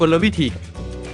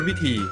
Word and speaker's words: กลวิธี: ว่า กลวิธี อ่าน ได้ เพียง อย่าง เดียว ว่า กลวิธี ห้าม อ่าน ว่า กลวิธี นะ ครับ คำ ที่ 7 คำ ว่า กาล